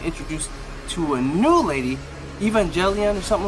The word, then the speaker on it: Evangeline: So in this where we get introduced to a new lady, Evangeline or something like that. What's her name? Evangeline. Sorry, that's how you pronounce it. Evangeline.